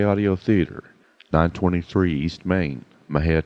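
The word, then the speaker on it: Mexia: theater 923 east main maha texas my head is spelled m-e-x-i-a our zip code is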